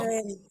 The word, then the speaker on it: cramp: Iya, P-nya jangan lupa. Baik, ada bunyinya P-nya. Gimana tuh? Cramp.